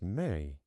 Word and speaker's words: me: the stealing the Me, The m e is pronounced May. So, this is the backstory of stealing the May.